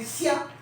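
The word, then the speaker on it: 下: तो ये आपका वर्ड बन गया आज का चौथा लफ्ज, जिसकी प्रोनाउंसिएशन है सिया, फॉलिंग टोन है सिया, और मायने हैं डाउन या डाउनवर्ड्स के, राइट।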